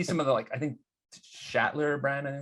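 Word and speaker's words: Sachtler: I see some of the I think Shatler brand. I think it's called. They actually call it Zachler. That's the right way.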